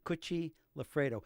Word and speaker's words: Cucci Lafredo: And a lot of people can't pronounce her name. It's Cucci Lafredo.